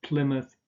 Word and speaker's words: Plymouth: there is born month again you just pronounce a schwa here and a sound rather than mouth so a Bournemouth Plymouth cydnus and then you had